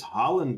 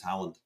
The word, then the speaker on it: Haaland: How about this Haaland guy?